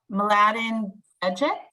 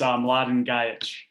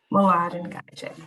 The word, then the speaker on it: Mladen Gajic: Okay, I'm going to unmute Mladen Bejic. Sorry if I mispronounced your name. No worries, no worries. It's Mladen Gajic. Mladen Gajic.